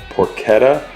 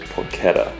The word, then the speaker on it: porchetta: outside I was corrected by a viewer it's pronounced porchetta rub but I say porchetta or just call whatever you want to but he said the actual pronunciation is porchetta exactly and over here we have I got